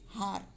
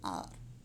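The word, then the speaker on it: hour: The spelling has H at the start, but H is silent. We don't say har, we say R.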